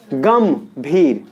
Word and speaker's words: गंभीर: तो गा के ऊपर जो बिंदी है उसमें प्रोनाउंसिएशन क्या रहा है? म का। क्या रहा है? गंभीर। गंभीर आ रहा है समझ में?